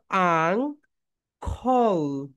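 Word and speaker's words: uncle: আঙ্কেল, নট আঙ্কেল। এটা right pronunciation হবে, সবাই বলো। আং, বলো এরকম করো। আং খল, আংখল, আং খল, আংখল।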